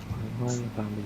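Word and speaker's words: Guayllabamba: This city is Guayabamba. Guayabamba, yeah. Guayabamba, The double L sounds J.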